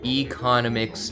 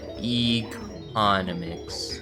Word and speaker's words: economics: It's pronounced economics, not economics. I think we're saying the same thing here, mutated bacon. It's spelled exactly the same too. I don't know what you're trying to say. Close. Putting the emphasis on the wrong syllable? Oh, my bad. Economics. There you go. Put it on the E this time.